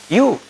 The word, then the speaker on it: ewe: EW is not EV or V or E, right? It is U, right?